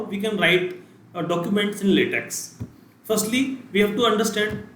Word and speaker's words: LaTeX: can write documents in LaTeX. Firstly, we have to understand what is LaTeX and what are its applications. So LaTeX, if you pronounce it, it is a lay and then tech.